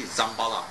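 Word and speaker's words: Dzambhala: Om, they spell it all kinds of funny ways. Some put J, some put D, Z. It's actually Zambala, Z, alright?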